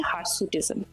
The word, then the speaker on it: hirsutism: সেটাকে আমরা একটা কন্ডিশন বলি তার নাম হচ্ছে হারসুটিজম হার সুটিজম যদিও বানানটা হার নয় এইচ আইর হারসুটিজম কিন্তু একটা